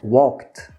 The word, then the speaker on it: walked: acaba com ED, mas a gente pronuncia com T porque é mais fácil, tá? Walked. O que é mais fácil? Falar walked com ED ou walked com T, walked.